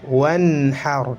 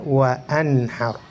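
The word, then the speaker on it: وَانْحَرْ: Nah, hamzah wasal ketika berada di pertengahan kata maka tidak diucapkan. Contoh wanhar, tidak boleh dibaca wa anhar, hilang.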